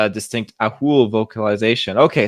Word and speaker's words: Ahool: And then, yeah, because of its distinct Ahool vocalization. Okay, so it's spelled like Athol, but they pronounce and vocalize like Ahool, I guess.